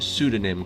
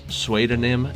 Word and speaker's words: pseudonym: a few of you cheering that i've finally pronounced pseudonym correctly i know that's one that gets brought up every time i pronounce suedenim incorrectly somebody comments and says it's pronounced pseudonym